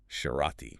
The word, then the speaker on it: Cerati: And remember, the accent is on the A. Cerati.